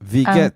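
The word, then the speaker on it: Wie geht's: Ang W is V. Oo, V. Ang Vigets. pag-pronounce na kay V, ang W dire kay V, baliktad.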